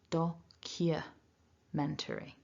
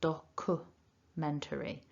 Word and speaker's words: documentary: instead like doku or documentary. We need to get the y in there. Documentary. So that's the first tip. There's no written y, but it needs to be there.